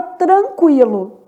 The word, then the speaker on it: tranquilo: Na palavra tranquilo, o N também é nulo, quer dizer, forma dígrafo, não é pronunciado. O é pronunciado, né? Lo.